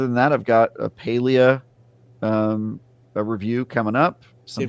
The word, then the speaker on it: Palia: internally call it, and they said that it's pretty unanimously Palia internally.